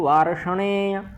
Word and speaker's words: वार्ष्णेय: स्त्रीषु दुष्टासु वार्ष्णेय, वार्ष्णेय। यहाँ भी मूर्धन्य षकार है और णकार है।